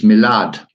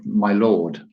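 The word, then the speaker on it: milord: Well, thinking about that in military terms, they say, or in the sort of royalty etiquette, it's milad, not my lord.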